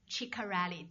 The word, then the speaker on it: Ciccarelli: If you're interested, I have my wonderful colleague, Mark Ciccarelli. Did I pronounce that Italian right?